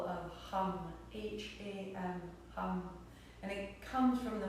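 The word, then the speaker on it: Ham: And then we activate, we articulate, we ignite this space with the syllable of hum, H-A-M, hum.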